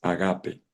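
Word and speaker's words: ἀγάπη: padre el ágape dije no ágape no agape en griego porque usted no dice el dice el caballo la pronunciación correcta es agape el agape es el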